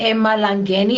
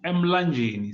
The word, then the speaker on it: Mlangeni: I think Emma Langeni, am I saying it right? It's actually it's Mlangeni. So this it's M. Mlangeni. Okay.